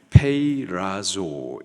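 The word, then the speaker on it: πειράζω: 시험 여기서 시험에 해당하는 헬라 단어 발음이 페이라조 있니다 문명에 따라서 여러 가지로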